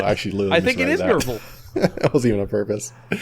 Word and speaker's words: Nerval: Actually, I think it is Nerval.